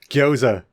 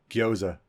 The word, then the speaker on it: gyoza: Gyoza. It's GY. There's no U in it. Gyoza.